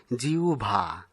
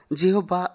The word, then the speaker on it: জিহ্বা: সঠিক উচ্চারণ জিহ্বা। আমরা জিহ্বা উচ্চারণ করে থাকি, যা ব্যাকরণ সিদ্ধ নয়।